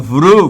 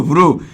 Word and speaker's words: ভ্রু: তারপরে আছে এটার সাথে রসু উচ্চারণ করো ভ্রু ভ্রু এই রসুটা ভের সাথে উচ্চারিত হচ্ছে র সাথে ভ্রুভ ভর